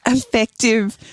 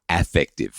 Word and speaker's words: affective: heap of life before you actually got that effective empathy going. Yeah, so just to be clear, it's not effective as in effective meaning it's effective and it gets things done, but rather affective.